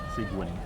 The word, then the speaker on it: Seguin: You pronounce this Seguin.